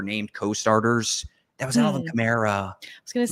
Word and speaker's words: Kamara: That was Alvin Kamara. I was going to say, does it rhyme with Shamara?